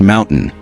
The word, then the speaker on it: MNTN: In 2021, Ryan's company, Maximum Effort, was acquired by a tech-driven advertising platform called MNTN, pronounced Mountain.